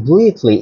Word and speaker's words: blithe: The children were playing blithely in the hedges west town.